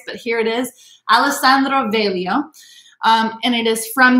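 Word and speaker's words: Veglio: alessandro velio so again that g is silent sometimes but not always but here it is alessandro velio um and it is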